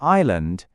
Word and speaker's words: island: So for island, maybe you picture an eye looking at a landscape with a giant snake slithering through it. It sounds silly, but it can really help you remember that silent s.